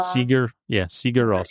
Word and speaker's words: Sigur Rós: Sigur Rós.